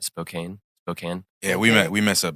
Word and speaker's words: Spokane: I think like Spokane or, am I pronouncing that city right? Spokane?